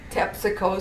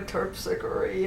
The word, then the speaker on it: Terpsichore: and I did not like the way they said Tepsico Street for Terpsichore, and you know, they mispronounced the names.